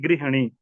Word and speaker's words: गृहिणी: ठीक गृहिणी नहीं होता सामान्यता हम बोलचाल में ग्रहणी बोल ते हैं लेकिन गृहिणी उच्चारण भी शुद्ध करना है ठीक है